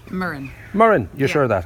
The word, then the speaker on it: Muireann: And pronunciation? MUIREANN.